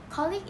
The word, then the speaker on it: colleague: are colleague and wednesday colleague is often used for malaysians to refer to a person with whom they share a professional or business relationship it is commonly pronounced clicked by malaysians however the pronunciation is